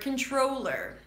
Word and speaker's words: controller: So, uh, let's begin with the word control. It's a C sound.wah. Kin. And then it's a long O as in go. Troll. Now, see what happens to the T after before an R. It becomes a CH sound.